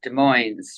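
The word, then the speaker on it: Des Moines: It's pronounced De Moines, right? Um I pronounce it either way because there are citizens that pronounce it both ways.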